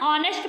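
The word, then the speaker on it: honest: पढ़ते ऑनेस्ट पढ़ते हैं एच हमारा क्या है इसमें साइलेंट होता है और इसको हम क्या पढ़ते हैं ऑनेस्ट पढ़ते हैं तो यहां पे क्या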